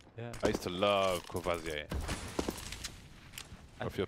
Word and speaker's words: Courvoisier: Courvoisier.